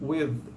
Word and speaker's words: width: Ela é pronunciada como width. Né? Então tem um Dzinho, eu expliquei um pouco isso no último vídeo.